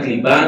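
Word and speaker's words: קליפה: es decir, la palabra clipá, diga conmigo clipá. Clipá. Clipá se escribe así como se escucha, lo puede escribir con Q, yo lo escribo con K, o con C, se escribe clipá.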